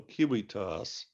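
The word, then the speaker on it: civitas: in Latin Prescott commercial kiwitos all those season a row which in ancient Latin were all pronounced with a k sound kiwitos that's another example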